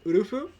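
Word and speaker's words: ウルフ: The reason why she wanted that name is because since my name is Wolf, and in Japanese you say Wolf as Urufu.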